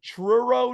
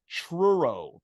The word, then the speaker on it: Truro: your hometown of Truro Nova Scotia a deceivingly difficult uh city name to pronounce I know it is it sounds like churro yeah but it hasn't